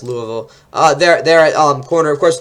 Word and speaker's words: Louisville: Jarvis Brownlee Jr., the Louisville, I think that's how you pronounce it. No, it's Louisville.